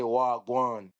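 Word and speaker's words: wah gwaan: So, if I say if you say in English what's going on, instead of say what's going on, we would say wagwan.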